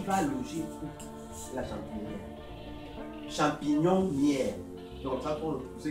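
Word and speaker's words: champignonnière: Champignon-nière. C'est comme ça pour ceux qui ne savent pas prononcer.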